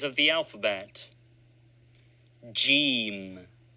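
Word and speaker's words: جيم: Jim. Pronounced usually like G in good.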